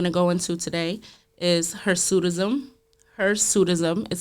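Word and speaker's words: hirsutism: Um the second word that I'm going to go into today is her sudism. Her sudism is spelled h i r s u t i s m and it's putting that on.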